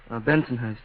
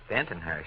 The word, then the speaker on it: Bensonhurst: Bensonhurst. Bentonhurst. Now you go Bensonhurst. Benton. Oh, you're a middle syllable man from the word go, aren't you?